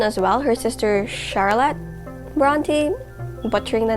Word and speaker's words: Brontë: drum roll please wait emily bront is that how you say her name no is that how you say her name emily bronty is it really emily bronte not emily braun we got that cleared